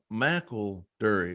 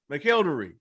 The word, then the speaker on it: McElderry: pronounce it it's uh he goes uh mackel durie mcelderry mcelderry that's it mcelderry i'm like yeah that's